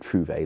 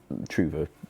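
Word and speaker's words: Trouver: I suppose we could pronounce it Trouve like the French, but Truva looks right in this language.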